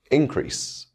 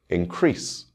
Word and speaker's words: increase: knowledge of this subject increase this is a noun and the stress will fall on the first syllable I want to increase my knowledge on this subject this is a verb and the stress will fall on the second syllable increase we've made a list